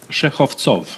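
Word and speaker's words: Shekhovtsov: Shekhvtsov, is that correct pronunciation, sir? Shekhvtsov. Shekhvtsov, apologies. Correct.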